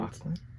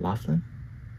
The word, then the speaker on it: McLaughlin: McLaughlin? Yeah. It's not Laughlin? No, McLaughlin. Oh. I think. That's okay. It's Irish.